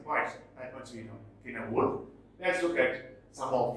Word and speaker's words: Cynewulf: It is not pronounced as Cynewulf, it is Cynewulf.